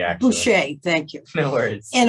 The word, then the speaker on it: Boucher: It's Boucher, actually. Boucher, thank you.